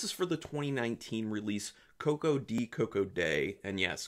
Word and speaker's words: Koko-Di Koko-Da: for the 2019 release coco d coco day and yes coco d coco day is how it's said in the film just so you know